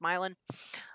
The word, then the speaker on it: Milan: In Ohio, the way her last name is spelled is pronounced Milan.